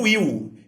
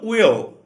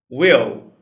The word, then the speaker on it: Will: Então, a abreviação do nome William, para a gente vira Will, e não Will. A gente precisa pronunciar o L. Will.